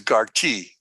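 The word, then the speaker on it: גרתי: now the word for sojourn in Hebrew is garchi garchi you'd spell it g-a-r-t-i in in Hebrew it'd be gimmel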